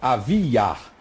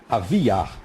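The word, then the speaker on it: אביה: Abias, a pronúncia hebraica é Aviar. Aviar. Porém, existe a forma também, Aviahu.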